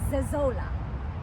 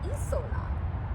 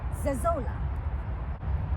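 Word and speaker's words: Zezolla: Her name is Zezola. I always heard Isola, which is also easier to pronounce. Zezola.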